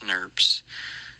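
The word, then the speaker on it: snRNP: by small nuclear ribonucleoproteins sn rnp's commonly pronounced snurps spliceosomes are made up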